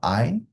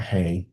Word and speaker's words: hay: I pronounced not hey the first time I read it I was like hey no it's I this one is abia